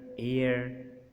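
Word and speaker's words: heir: शुरू में बहुत सारे जो अल्फाज हैं जिनके शुरू में एच आता है उनमें एच प्रोनाउंस नहीं होता। जैसे आवर, ऑनेस्ट, ऑनर, एयर, एब, तो इसको एच ई आर बी को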